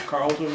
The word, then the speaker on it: Carleton: can you state your name and spell it for the camera my name is Carlton and it's it's strange difficult to spell c-a-r-l-e-t-o-n there's an e in the middle of that name great and